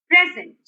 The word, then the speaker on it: present: present in the meeting now here the stress is on the present the second syllable present okay present your